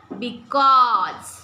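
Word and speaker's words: because: ज रोज was ways बिकॉज आता बिकॉज मध्ये एस आहे पण बिकॉज म्हणलो का आपण बिकॉज बिकॉज ज उच्चार केला आपण एस चा कळालं का?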